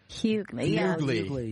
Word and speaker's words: Hughley: Number 2, if I pronounce this right. Yeah. D.L. Hughley. Hughley, yeah.